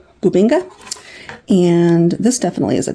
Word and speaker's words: bubinga: Bubinga. More boo than ba. Bubinga.